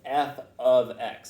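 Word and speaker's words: f(x): i want to go over the that's usually pronounced f of x it means f is a function of x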